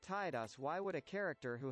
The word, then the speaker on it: Tidus: I acknowledge that Square Enix says it's pronoun Titus, but I reject that. It's pronounced Tidus.